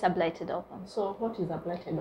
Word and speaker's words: blighted ovum: Maybe, am I even pronouncing it better? Is it blighted ovum? Yes, it's a blighted ovum.